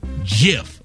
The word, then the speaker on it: GIF: It's not GIF. The creator of this said that pronunciation is GIF, like the peanut butter.